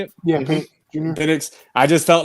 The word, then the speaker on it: Penix: Penix.